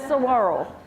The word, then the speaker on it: saguaro: I keep telling Dolores, why isn't it pronounced saguaro? She said, it's saguaro.